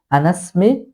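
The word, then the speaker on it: أنا اسمي: যেহেতু আমরা জানি যেইসমুন যে আলিফটা আছে এটা হচ্ছে অসলি এটি মিলিয়ে দিলে এটি আর উচ্চারণ আসে না তাহলে এখানে কি বলতে হবে আনাসমি মোহাম্মদ আনাসমি মোহাম্মদ আস আনাসমি মোহাম্মদ তারপরে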